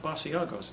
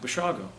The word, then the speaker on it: Basiago: unusual i said b-a-s-i-a-g-o he said well that sounds like basiago's you pronounce it what is it and i said bashago and he said italian